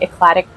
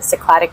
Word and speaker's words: Cycladic: Even though it's the capital of the Cycladic group, or the Cycladic group. I know I keep going back and forth on my pronunciation because I cannot decide. Both are correct.